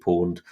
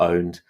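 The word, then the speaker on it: pwned: een pwn e decom it's a play on the word own so it's a very hacker ish term pwn Edie pond or owned so if you sign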